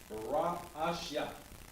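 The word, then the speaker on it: Bereshit: is for genesis and in hebrew we pronounce genesis as barack asha all right i'm going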